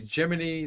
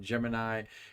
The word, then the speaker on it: Gemini: so now you know it's officially geminy that's why I'm saying geminy and not Gemini because NASA in 1965 cleared it up and said that's how we want you to pronounce it well here's our geminy